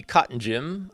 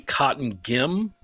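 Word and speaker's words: Cottongim: The adult player of the year is Christy Cotton Jim of Alvatton. I hope I'm pronouncing that right. I apologize. It's actually Cotton Gim.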